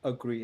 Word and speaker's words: Agri: introduction my name is angry uh you pronounce it like agree and and i agree